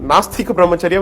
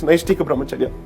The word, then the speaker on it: Naishtika Brahmacharya: In fact, in the court, most of the time I heard people calling it Nastika Brahmacharya when in fact it's Naishtika Brahmacharya.